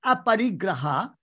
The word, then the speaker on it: aparigraha: Now, this is a very beautiful word, aparigraha, which I think you have pronounced correctly.